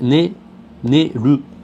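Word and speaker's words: 寝る: Neru. Neru. Alors la prononciation, j'entends beaucoup de neru, je ne sais plus comment on roule les L, je n'y arrive pas. Mais c'est neru.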